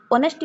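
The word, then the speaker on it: honesty: অনেস্টি আমার আওয়াজ কোন ভাওয়েল সাউন্ড আসছি ওর উচ্চারণ হয় অনেস্টি পূর্ব আর্টিকেল আন ইউজ হবো অপশন নাম্বার বি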